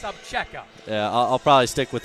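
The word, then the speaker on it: Obzera: I mean, it's spelled O-B-Z-E-R-A, pronounced Abcheka.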